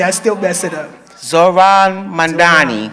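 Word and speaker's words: Zohran Mamdani: How do you pronounce his name? Zored Mandani. I Zoran. Oh, you see I still mess it up. Zoran Mandani.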